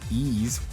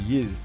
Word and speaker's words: Ys: Pronounced ease. What? It is not ease is Yiz. In Japan, we call it Yiz, not Ease.